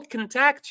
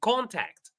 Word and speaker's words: contact: Number two, do you have his contact? Do you have his contact? Did you notice any difference in the pronunciation of these two words?